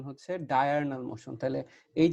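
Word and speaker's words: diurnal: ডায়ারনাল motion, অনেক জায়গায় এটাকে ডিউরেনাল মোশনও বলে, বাট এটার অ্যাকচুয়াল তোমার উচ্চারণ হচ্ছে ডায়ারনাল মোশন।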